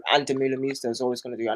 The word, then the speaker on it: Demeulemeester: I get corrected because I talk about her so much, so all the Belgians are like, "It's not Demeulemeester, it's Demeulemeester."